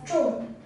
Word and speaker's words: 众: this character is pronounced as true true and it means numerous for them were